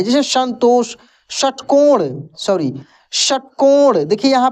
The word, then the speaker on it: संतोष: से ठीक है ना तो ये वाला उष्मीय श है इसका उच्चारण अंदर से निकलता है श श तलाब का